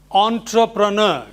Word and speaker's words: entrepreneur: But this word is pronounced entrepreneur. Yes. Entrepreneur. Not entrepreneur, nor entrepreneur, nor entrepreneur. No. It is entrepreneur.